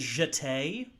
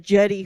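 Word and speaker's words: Jeté: Her name is Jete. Ooh. Jete Bonsoir. Lawrence. Oh. Yeah. Oh, I definitely was pronouncing that jetty when it popped up on the sheet on the screen last night.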